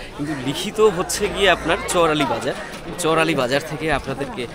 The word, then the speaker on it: চর আলী বাজার: নালিতাবাড়ির সমতল ও পাহাড়ের মিলনস্থল নয়াবিল ইউনিয়নের চর আলী বাজার। স্থানীয়দের উচ্চারণে যা হয়ে উঠেছে চাইর আলী বাজার।